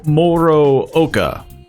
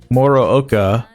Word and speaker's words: Morooka: Morooka, I believe is how he pronounced his own name.